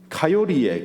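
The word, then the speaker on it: coyote: 거를 고요태라고 하는데 미국에는 미국의 고요태를 미국 발음으로 하면 카요리에 카요리 koyote를 미국 발음으로 하면 카요리에요 가요리 그래서 저는 고요 때와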